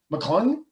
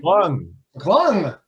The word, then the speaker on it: McClung: McClung? Is that how you pronounce his last name? McClung.